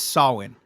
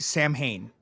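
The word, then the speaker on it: Samhain: He is uh so the correct way to say it is Sawin, but everybody Sam Hayne.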